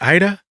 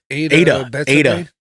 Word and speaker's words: Ada: Is it Ida? How do you say her name? Ada.